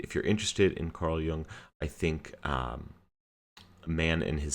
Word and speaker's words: Jung: Young is actually spelled Y-U-N-G, unless, of course, you are a renowned psychologist, and then you might spell it J-U-N-G, but that might be pronounced more like Jung.